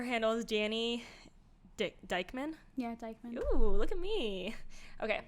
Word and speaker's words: Dykeman: Yeah, Dykeman. Ooh, look at me. Okay, she said, pronouncing things correctly.